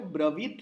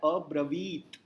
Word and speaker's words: अब्रवीत: उसमें वो जो ब्रवीत है उसमें वी दीर्घ है तो वो होता है अब्रवीत। अगर उसका उच्चारण आपने गलती से कर दिया ब्रवित तो उसका अर्थ बदल जाता है।